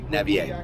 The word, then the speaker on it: Navier: Navier.